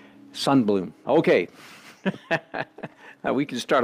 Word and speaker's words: Sundblom: pronounced his name but having lived among the Swedes for many years I think he would pronounce his name son Blum okay now we can